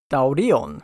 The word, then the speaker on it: Taurion: I'm going to pronounce his name correctly one last time. Taurion.